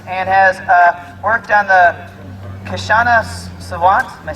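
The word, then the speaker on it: Kshama Sawant: She's a climate scientist and has worked on the Kashana Savant.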